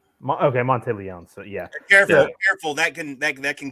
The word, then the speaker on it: Monteleone: Monteleone? Monteleone. Okay, Monteleone. So yeah, careful. That can kill someone if you mispronounce their name.